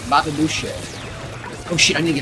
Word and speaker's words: Boucher: It isn't spelled like B-O-O-S-H-A-Y. Boucher. Bobby Boucher.